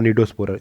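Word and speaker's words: Cnidospora: सार्कोमेस्टिकोफोरा, Sporozoa और निडोस्पोरा, सी silent S में, और सिलियोफोरा।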